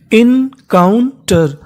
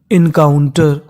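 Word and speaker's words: encounter: चाहो तो आप इसे एन भी बोल सकते हो। दोनों ही उच्चारण हमारे सही माने जाते हैं।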